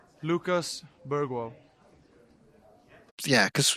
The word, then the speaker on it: Bergvall: Lucas Bergwall. Yeah, because you pronounce it the way the person says it should be pronounced.